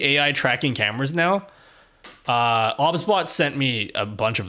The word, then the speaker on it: OBSBOT: tracking but obsbot it's it's spelled obsbot but they're very adamant that it's pronounced obsbot how do you think about